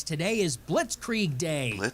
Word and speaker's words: Blitzkrieg: She says, "Blitz creag day." What the I go, "Okay, so she can't pronounce that."